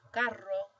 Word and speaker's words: carro: This one would be pronounced carro, whereas this one is caro. So that's how they make the distinction between the two words, carro, caro.